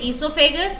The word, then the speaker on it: esophagus: pipe और esophagus है, ये O यहाँ पे silent है, हम इसे pronounce करेंगे esophagus, उसके बाद जाता है